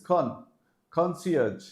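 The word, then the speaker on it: concierge: conci now this is not con this is Con conage okay so these were some of the tricky pronunciation the words with tricky pronunciation but I'm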